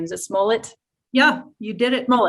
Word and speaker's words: Smollett: how to say his last name is a smullet yeah you did it roll it okay when